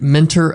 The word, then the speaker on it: Mentor: You gotta say it like mentor. Okay, mentor. Not like sensei, but mentor. Yeah, mentor, but everybody down there is mentor. Mentor. Get rid of the T. Mentor. Mentor. Mentor. Mentor. You ain't saying it right unless you say mentor.